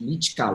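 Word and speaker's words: Lycka: at entertain i think your last name is lichika right is the right way to pronounce the party that's right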